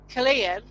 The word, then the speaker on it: Culzean: And I just put a tent about Killeen, what is spelt Colzean.